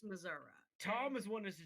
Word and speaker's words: Missouri: It's actually pronounced Missouri.